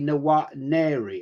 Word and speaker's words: Nwaneri: It's actually Nwaneri, apparently, I'm told. Got told off for mispronunciation.